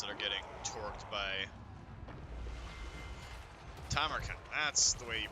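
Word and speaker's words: Tamurkhan: Tamarkan. That's the way you pronounce that.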